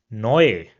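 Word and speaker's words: neu: So for example we have this word over here and it will be pronounced as noi which means new.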